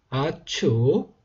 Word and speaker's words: 아축: 그리고 그러면 이제 초가 되든지 아니면 이제 축 이렇게 축 발음 아니면은 툭 발음으로 된다고 보시면 되겠고요. 이 번, 아축, 이 비라고 되어 있습니다.